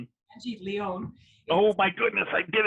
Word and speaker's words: Leon: My name is Angie Leon. Oh my goodness, I did it. It's spelled like lion, but that's okay, it's common.